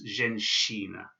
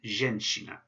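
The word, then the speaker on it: женщина: And this word is pronounced zhenshina. So it's not a zhenshina, because that would just be a normal normal sh sound. This is a shia, so it's zhenshina. Subtle difference, zhenshina. And zhenshina means a woman or a lady, a zhenshina.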